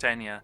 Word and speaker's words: Eithne: Her name is spelled Eithne, and it's pronounced Enya.